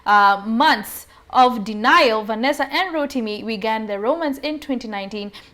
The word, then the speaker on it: Rotimi: American actor, singer and model Rotimi, that's the way I was told to pronounce it, Rotimi, and his fiancée Vanessa Mdee have announced that they're expecting their first baby together.